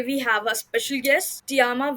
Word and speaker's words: Tiaram: dive into the podcast I would just like tiama to introduce herself that's my qu hi everyone